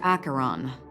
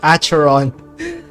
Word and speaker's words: Acheron: for you Galaxy rang acaron this is what they call me you can call me whatever you want I said Aeron I'm so sorry it's acaron sorry for the mispronunciation whoa open this door